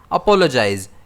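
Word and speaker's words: apologize: इसे हम प्रोनाउंस करते हैं अपोलजाइज। इस वर्ड में स्ट्रेस पी पर रहता है।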